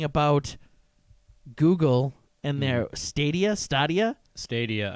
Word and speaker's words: Stadia: Stadia, I believe, is the correct pronunciation.